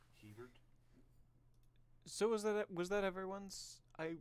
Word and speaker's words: Hebert: Kyle Herbert or Kyle Hebert. Yeah, he's the guy who plays Adult Gohan. How would you pronounce that? Hebert.